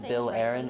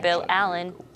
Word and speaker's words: Bill Allen: ever pronounced your name I said your name was Bill Aaron which I'm sure you know is not your name is Mr Bill Allen okay favorite doctor the